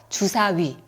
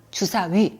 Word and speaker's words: 주사위: 몇 가지 살펴보겠습니다 먼저 주사위 주사위 위 발음 살펴보면 좋을 것 같아요 위는 이할 때 혀에 위치해서 입모양을 우로 만들면서내는 소리입니다 이위 위 위 이렇게요 자 입모양이 변하지 않는 단 모음이에요 그래서 주사위 주사위 이렇게 발음하세요 그리고 귀